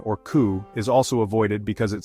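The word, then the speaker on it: 九: While the number 4, or shi, is associated with death, the number 9, or ku, is also avoided because it sounds like the word for suffering or pain.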